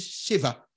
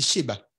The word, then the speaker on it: Sheva: Mais de le mot cesser en hébreu, tu as le mot sept qui veut dire Sheva. Hein, c'est le B qui ne se prononce V. Hein. On dit Sheba, Sheva.